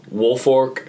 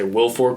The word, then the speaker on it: Woolfolk: Especially Woolfolk. I always mispronounce his name because I want to say Wilfork, but he had those 2 interceptions.